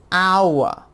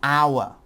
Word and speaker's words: hour: For example, our, because the H is silent, so it makes the OU sound. An apple. An egg. An ice cream. An open door. An umbrella. An hour.